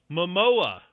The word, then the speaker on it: Momoa: Momoa.